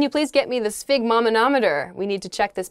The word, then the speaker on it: sphygmomanometer: your blood pressure they'll put this thing this figmenometer on your arm usually and then they'll kind